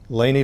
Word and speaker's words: Laney: I'm Layne and we're talking today with Laney Delaney how are you yes I pronounced your name right you got it yeah